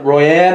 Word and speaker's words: Royne: been real nice uh your name is roy royne is that i might am i pronouncing that correctly yes you've been real nice